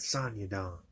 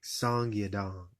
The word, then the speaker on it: Song Yadong: Um, but Song Yadong, I said it wrong. Song Yadong, though.